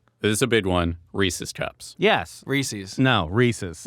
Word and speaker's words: Reese's: is a big one Reese's Cups yes Reese's no Reese's Reese's Pieces thank you no not really species then they should spell it differently we know that it rhymes with pieces it is we should